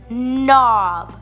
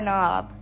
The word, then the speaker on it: knob: a hill nap nap n and OB I think we all probably know this knob this is the thing that's on our door we open the door or knob knob knob n and